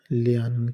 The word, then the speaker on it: lernen: بنیادی شکل ہے میں ابھی جرمن سیکھ رہا ہوں تو سیکھنے کو جرمن میں لیانن کہتے ہیں۔ اس کا سپیلنگ یہ ہے لیانن، LERNEN، لیانن، اس کو